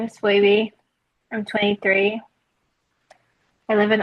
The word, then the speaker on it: Phoibe: Well, it's pronounced Phoibe. Phoebe.